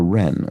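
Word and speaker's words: wren: silent um oh a ren okay because it's a silent W simply pronounce it without the W streak on a cheek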